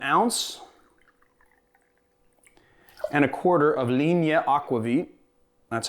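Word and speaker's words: Linie: gonna do an ounce and a quarter of lean yet aquavit that's how you pronounce it and you know how I know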